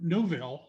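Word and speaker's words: Neuville: um and we went through newville that's how you pronounce it yes and we actually stayed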